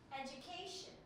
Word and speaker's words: education: look at this one education how many syllables one two three four right four syllables education can we education now where do you see yourself making the syllable stronger and louder is it education is it education is it education is it education educ education very good well done education so this is where